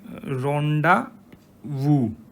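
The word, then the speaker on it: rendezvous: देखिए ये एक फ्रेंच वर्ड है, ओके, और इसको क्या बोलते हैं, अगर हम इसको प्रोनाउंस करेंगे कैसे करेंगे, रोंडा वू, इसका मतलब क्या होता है मीटिंग और डेट, ठीक है, रोंडावू बोलते हैं इसको, रोंडावू इन फ्रेंच लैंग्वेज।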